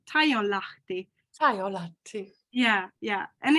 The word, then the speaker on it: Taijonlahti: It sounds so boring, but I mean Taijonlahti. It's how my father pronounced it. Taijonlahti.